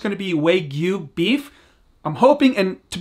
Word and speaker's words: Wagyu: I think that's how you say it correctly, Wagyu.